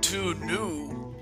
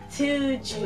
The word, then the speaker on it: Tuju: It's to Jew, not to new. You're pronouncing my name wrong, man. Pronouncing my name wrong, man. Tuju.